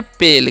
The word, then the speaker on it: pale: Next word है हमारा PALE, तो इसे हम पढ़ते हैं पेल, क्योंकि ए का उच्चारण एकले करना है, एल का उच्चारण ल और ई का उच्चारण नहीं करना।